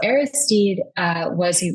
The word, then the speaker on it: Aristide: So Aristide you pronounced it right.